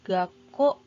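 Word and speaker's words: 学校: dengan Zico kan Zico maka dibacanya menjadi Gak kok gak kok yang artinya adalah sekolah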